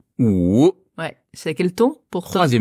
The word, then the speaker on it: 五: Ou. Ou.